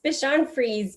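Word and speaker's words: Bichon Frise: free say i forgot to ask how to pronounce the breed of dog how do you say that dr charlotte it's bishan freeze but little toby did not survive the pandemic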